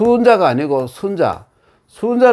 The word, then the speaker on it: 순자: 순 수 혼자가 아니고 순자 순자 라 옛날의 그 어떤 대통령 하는 사람이 많으나 보이아 보이는 이름의 순 잔다 이거는 짧게 순자 라고 읽어요 순 자 그럼 기획의